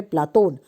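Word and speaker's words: Πλάτων: और प्लेटो शब्द का जो अर्थ है वो है चौड़ा और चपटा, और प्लेटो का शुद्ध यूनानी उच्चारण है प्लातोन।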